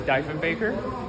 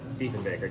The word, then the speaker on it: Diefenbaker: And John, I think it's pronounced Diefenbaker.